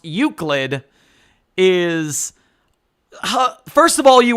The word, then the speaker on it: Euclid: Are you going to talk about the uselid?